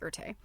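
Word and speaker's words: Erté: It's Erte, and I can't remember if that's I don't know if you pronounce the E on the end or not. I think you do. I think it's Erte.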